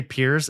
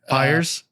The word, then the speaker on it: Pires: Did you just say peers? Have I been saying it wrong this entire time? I did say it right. Yes. But 99% of people who have me on kind of say it. Pers like they say pers. Yeah, they say it very differently.